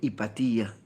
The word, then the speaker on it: Hipatía: hipatia una mujer llega me decía que se dice hipatía un poquito más difícil de pronunciar con esa con esa y acentuada nos trae en la